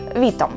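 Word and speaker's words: witam: сказати вітання, і це польською буде вітам. Вітам. Вітам. До речі, польська мова, вона унікальна тим самим, що у ній наголос ставиться завжди на передостанній склад, тому помилитися, в принципі, неможливо, якщо знати цю просту істину.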